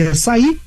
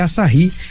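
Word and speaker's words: Asahi: assari Olha que legal exatamente como no português o h é mudo o pessoal começou a falar aí aí assi então registrou aí mas na verdade é assahi que significa Sol Nascente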